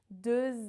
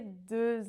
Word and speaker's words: deux: Douze makes the sound OU rounded, and deux is the E sound. Can you hear the difference? J'ai deux invités.